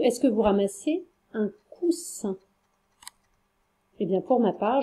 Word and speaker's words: coussin: Ou est-ce que vous ramassez un coussin? Eh bien, pour ma part, je ramasse un coussin.